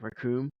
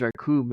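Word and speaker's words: Recoome: He's like, "My name's Raccoon. It rhymes with doom, and uh, you'll be doomed all too soon," or something like that.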